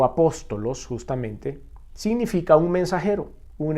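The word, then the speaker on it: ἀπόστολος: si nosotros vamos a la palabra griega original apóstol y significado se pronuncia en griego apostolos justamente significa un mensajero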